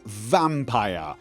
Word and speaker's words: Vampyr: want to say it I say vampire rhymes with Tyre higher higher not vampy rhymes with D P or over here okay